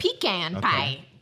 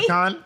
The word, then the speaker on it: pecan: Pecan pie. Yeah, I would have said. Yeah, I would have said pecan. Yeah, New Not Jersey. pecan?